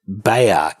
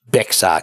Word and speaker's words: Bexar: It's actually pronounced Bayard County, not Bexar County, so the X is silent.